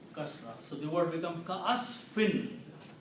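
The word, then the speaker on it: كَعَصْفٍ: So the word becomes ka'asfin. Ka'asfin. Not meme yet, noon only. Okay. Meme will become because of this one. So the pronunciation right now is ka'asfin, like F-I-N.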